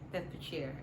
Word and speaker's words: Bedfordshire: Bedfordshire is how we pronounce it.